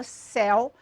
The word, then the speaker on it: céu: Quando eu coloco, contraponho com a palavra meu, a palavra céu, é perceptível essa emissão de voz, então, mais aberta. E eu tenho essa sonoridade para o el, céu, obrigatoriamente acentuado, véu, réu.